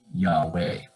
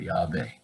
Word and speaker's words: Yahweh: It's the first syllable of what you might say is Yahweh, or Yahweh, Yahweh, Yehovah.